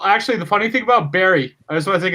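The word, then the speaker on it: Barrie: It's in the Bar. chat, man. B-A-R-R-E. Bar. Is it bar? Barry, I would say Barry. Barry? Barry. That is Barry.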